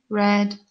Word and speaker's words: read: of tricky because um read is spelled the same in all three forms but it's read differently first then past simple and past participle is to read red red next verb is right